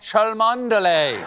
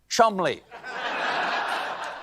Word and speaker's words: Cholmondeley: The Marchioness of Cholmondeley. What a beautiful name that I'm being told right now that I pronounced incorrectly. It is, in fact, pronounced Chumley.